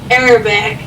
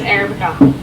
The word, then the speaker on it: Arabica: But he's laughing at me because I said Arabic instead of Arabica.